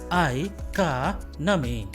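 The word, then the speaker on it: economy: इसको सही बोलने के लिए 4 सिलेबल्स की जरूरत पड़ती है। इसका सही प्रोनाउंसिएशन होगा इकोनॉमी। प्रेशर इज ऑन का, सो इकोनॉमी।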